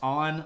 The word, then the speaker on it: An: emperor yeah it's pronounced on like um sort of like English oen I guess uh like Han but without the H Emperor an so we're